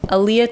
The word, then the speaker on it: Alea: your uh patreon uhhuh yep how did you pronounce that Aaliyah art and Tarot because I'm an artist